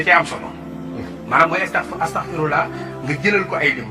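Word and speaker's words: أستغفر الله: nit ñi di moytu di wax astaghfirullah astafirullah mooy maa ngi daw yàlla. waaye astaghfirullah mooy maa ngi jégalu yàlla. xaaf bi waaw xam nga prononciation bi. waaye ñu bëri nag astafirullah kii daw yàlla moom da koy daw rek.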